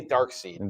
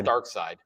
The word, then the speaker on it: Darkseid: I say Darkseid. I know it's Darkseid.